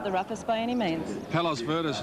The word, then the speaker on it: Palos Verdes: Palos Verdes, number 16, to be ridden by Craig Williams. That is the pronunciation we just found out from Colin Little. Apparently it's a suburb of Los Angeles, and it's got a